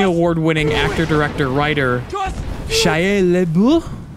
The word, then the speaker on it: Shia LaBeouf: actor director writer Shia LeBoeuf I believe is how you pronounce it in the French and the French Way I believe it's more of an accent on the F so Lib la la